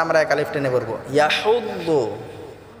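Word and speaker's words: يَحُضُّ: ইয়াহুদ্দু, এই হাটাকে আমরা গলায় চাপ দিয়ে উচ্চারণ করবো ইনশাআল্লাহ। ওয়ালা ইয়াহুদ্দু বললে হবে না,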